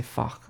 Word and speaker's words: Fach: Still feels funny to say fach. Rhymes with Bach.